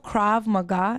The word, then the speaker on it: Krav Maga: And before you go, so you know Krav Maga, is that right?